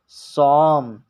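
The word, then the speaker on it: psalm: silent होगा हो जाएगा इसीलिए इसको पढ़ा गया है सॉम क्योंकि एल भी साइलेंट हो गया है और इसमें पी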